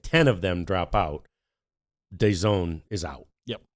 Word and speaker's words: DAZN: There is a deal with a British company called DAZN, D-A-Z, DAZN. Okay, D-A-Z-N is how it's spelled out, and it looks like they're ready to back out.